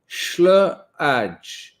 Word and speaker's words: Schlage: Schlage, long A, hard G. Are you just calling me names now? Am I the hard G? Right, long A, Schlage, Schlage, Schlage. That's it, isn't it? Schlager.